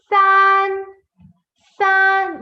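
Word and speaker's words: 三: San, san. It's not san. Please don't say san. It is san, san, san.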